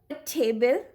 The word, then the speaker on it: table: For example, table. Table. Now here you will not hear the sound of this silent final E.